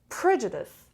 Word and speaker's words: prejudice: job according number two prejudice prejudice prejudice the stress is on the first level so prejudice again can